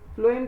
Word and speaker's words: phloem: सो PH है ना, तो इट is kind of F in pronunciation.